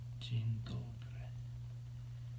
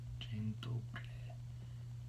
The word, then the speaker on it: dzień dobry: If the N has an accent over the top, it almost sounds like there's a Y that's very slightly pronounced.